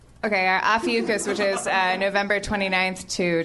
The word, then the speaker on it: Ophiuchus: Officius. Officius? That's Pisces. Am I pronouncing it wrong? What is it? Ophiuchus? I know, right? Adam Goldberg to the rescue. Is it Ophiuchus? Yep. Okay, Ophiuchus, which is November 29th